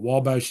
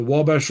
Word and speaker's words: Wabash: It's actually the French spelling of the Wabash River. So if you call it Wabash State Park, that's fine with me. But most people would pronounce it Obachi State Park.